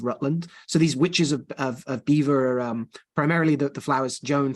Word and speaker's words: Belvoir: the witches of Beaver, which is spelled Belvoir, Balvoir, but I'm reliably informed is pronounced Beaver after the castle of the Earl of Rutland. So these witches of Beaver are primarily the Flowers,